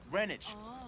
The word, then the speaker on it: Greenwich: Come on, you getting enough food down there in Greenwich Village? No, no, no. First of all, it's pronounced Greenwich.